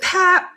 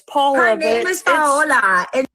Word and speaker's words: Paola: not pay. I'm not doing that. Wait, your name is, not pay and I've been calling you pay. Well, it's Paula. Yeah, it's spelled the same. And I told her that's the gringo version and your name is Italian. It's pa listen something about